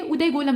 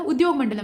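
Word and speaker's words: उद्योगमंडलम: Unit जो है ये उदयगोलम में है। यहाँ आप देख रहे हैं जो उद्योग मंडलम वाला क्षेत्र है वहाँ पे है। इसका प्रोनाउंसिएशन थोड़ा सा गड़बड़ हो गया था, उद्योग मंडलम है।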